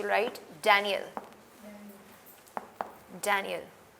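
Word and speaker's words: Daniel: इजे कियल था डेनियल क्योंकि इंग्लिश में दानियल की जो किताब है दानियल यल नबी की किताब को उसको आप कहते हैं डेनियल इन इंग्लिश और इकल की किताब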